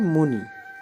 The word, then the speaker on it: मुनि: है और क्या है मुनि क्या लिखते हैं मुनि छोटी की मात्रा होती है जल्दी उच्चारण करते हैं मुनि और इसी आधार पर